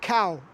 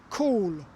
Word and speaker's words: Cawl: Yes, and this is the national dish, Cawl. It's pronounced like cow apparently.